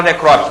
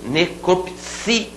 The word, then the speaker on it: necropsia: muita gente no concurso todo mundo fala necrópsia não fala vamos falar certinho necropsia cel batô esse si necropsia rubrica e não rúbrica